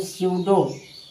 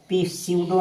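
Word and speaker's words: pseudo: पी एस ई यू डी ओ यानी सडो यानी पी के बाद एस है यानी पी साइलेंट है। यानी सडो इसे पढ़ेंगे पी सडो नहीं पीस सडो नहीं और पसडो नहीं इसे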